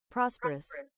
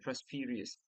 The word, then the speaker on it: prosperous: The pronunciation of this word also very important for me. Prosperous. Prosperous. Prosperous, prosperous, prosperous, prosperous, prosperous. What did I I said prosperious?